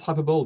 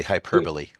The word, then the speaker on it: hyperbole: Uh oh, you really pronounce hyperbol differently. Wow. Okay. Yes. I I didn't want to interrupt you, but we say hyperbole.